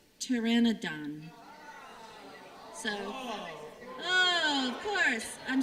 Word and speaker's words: pteranodon: I dropped a syllable. It's pteranodon.